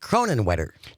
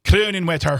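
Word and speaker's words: Kronenwetter: It's pronounced Cronin Wetter. Cronin Wetter.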